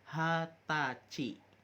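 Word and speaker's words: はたち: tahun Juki usai Nah kalau 20 tahun bukan nih jussai tetapi pengucapannya khusus yaitu hatachi Hai Hah ta Ci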